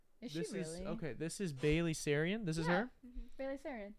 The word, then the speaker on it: Sarian: Yeah, she's really Bailey Sarian.